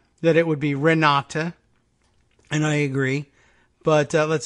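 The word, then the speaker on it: Renate: correction yes we're not re na te is the German spelling of Renata pronounced the same way so and let's see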